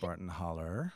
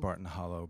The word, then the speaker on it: Barton Hollow: Alabama state line and it is properly pronounced Barton holler holler um if you said Barton Hollow back where I'm from